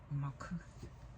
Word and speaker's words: Malkuth: And in the Hebrew language, it's pronounced Malkuth.